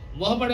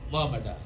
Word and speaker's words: Muhammad: Muhammad law means you all know that this terminology used by the English people. They do not pronounce Muhammad but Mohammad.